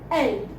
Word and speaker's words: elle: We pronounce it L. I-L. He. L. Then we have E-L-L-E. She. L.